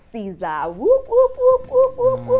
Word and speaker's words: Ciza: Ciza is the son of the one half of Mafikizolo Clan. Yeah, that's how it's pronounced.